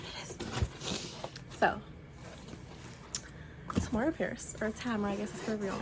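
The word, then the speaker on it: Tamora: So, Tamara Pierce, or Tamara, I guess is her real name. It's her real, is how you actually pronounce it.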